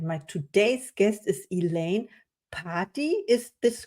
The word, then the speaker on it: Pardi: my today's guest is Elaine Pardi. Is this correct, or how Yeah, do you pronounce perfect. me? Party.